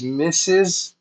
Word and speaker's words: Mrs.: Mohammed, and MRS, which means Mrs., which means the lady who is married, the married lady. It is pronounced Mrs.